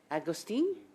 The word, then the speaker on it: Agostini: This is a very important topic, and I have a few questions, so I am going to start with Madame Lorraine Agostini. Did I pronounce that properly?